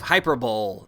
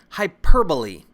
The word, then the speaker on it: hyperbole: Next up, we have hyperbole. No, that's not how you pronounce it. It's hyperbole. And hyperbole just means exaggeration to make a point or show emphasis.